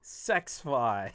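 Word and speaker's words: SXFI: right here lfa reviews it is pronounced sexify i don't like that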